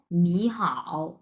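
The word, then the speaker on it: 你好: হাও হ্যাঁ তিন number how দুইটা একসাথে কিভাবে উচ্চারণ করব নি হাও নি হাও নি হাও এইভাবে হ্যাঁ সো নি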